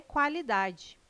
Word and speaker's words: qualidade: O QU não é dígrafo, não é pronunciado com um som único. O quá traz um ditongo, dois sons UA.